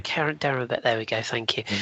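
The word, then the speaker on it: Kerem Demirbay: Karabai, how do you pronounce it? Kerem Dimmerbe. Kerem Dimmerbe.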